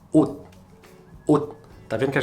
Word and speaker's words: 옷: em coreano, que é ot. Ot. Tá vendo que a gente não fala ot, nem ot, ok? Mas é um T que fica engasgado, né? Então, ot tem som de T.